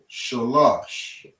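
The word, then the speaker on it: שלוש: Again, you're going to drop this a syllable. Right? You're going to connect the la and the sha together. And you're going to say shalash.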